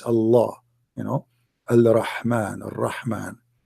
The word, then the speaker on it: Allah: to do the same it's just you have to say the L twice Allah you know Alman right